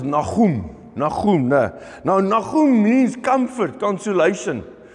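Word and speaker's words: Nahum: Naim in the in the Hebrew the best way while we as Afrikaans people pronounce is Nagem.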